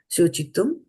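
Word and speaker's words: शोचितुम्: But here the S has got a bar on it, so it becomes śocitum.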